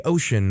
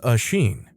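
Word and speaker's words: Oisín: Sister-in-law calls me Ocean or Ocean depending on how hard she tries. But my name is pronounced Oisin.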